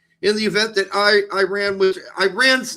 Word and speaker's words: Iran: It's actually pronounced Iran.